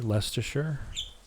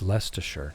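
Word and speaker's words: Leicester: Love the way you pronounce Lester. Leasher. Is that not what I said? Isn't it? It's Lester. No. Download festival. It's just Lester.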